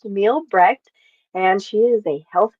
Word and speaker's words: Mielbrecht: Her name is, and the last name is pronounced Mielbrecht, and she is a health detective.